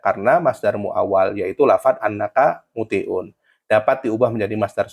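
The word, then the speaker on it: أنّ: Alasannya karena masdar muawal yaitu lafad annaka muti'un dapat diubah menjadi masdar soreh menjadi ito'atuka. Contoh yang kedua, atamanna annal qamaro tali'un, maka dibacanya anna bukan inna.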